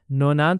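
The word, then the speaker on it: nonante: अगर आप अफ्रीका में काम करना चाहते हैं तो अफ्रीका फ्रेंच में 90 को नोनाथ बोलते हैं। इसीलिए 90 का अफ्रीका फ्रेंच में प्रोनाउंसिएशन होगा नोनाथ।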